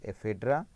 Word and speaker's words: Ephedra: Example based one is Natum, second one is Ephedra and Welwitschia.